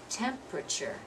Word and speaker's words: temperature: the next one temperature looks like four syllables but we don't pronounce that that way we say temperature temperature so if we